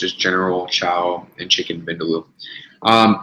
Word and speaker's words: vindaloo: general cowo and chicken bendalo um pretty sure I've had the vindaloo that's how you pronounce it um I'm a huge